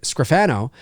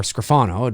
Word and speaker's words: Scrofano: I've told this story too, is that a girl that I went to high school with, Melanie Scrofano, or Scrofano, depending on how you want to pronounce it, she plays the title character in Winona Earp for Sci-Fi.